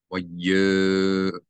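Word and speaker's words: וַיֹּאמְרוּ: This O vowel, hulam, it is coming from the yud. So you're going to not pronounce the aleph as a glottal stop. You read this as if the aleph is not there. So that this mem and this yud are actually in the same syllable. In English, we would write it Y-O-M. Y-O-M-E-R-U.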